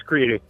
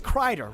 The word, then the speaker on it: Kreider: Especially if it's Creeder. You keep saying Creeder. Tell me, it is Kreider, right? Like, am I nuts? It's Kreider.